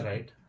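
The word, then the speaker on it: write: देखते हैं यहां पे छठा हो गया हमारा राइट डब्ल्यू आर आई टी ई राइट मतलब क्या होता है? लिखना। तो इसमें भी हमारा डब्ल्यू साइलेंट हो गया। और ये हमारा बन गया राइट।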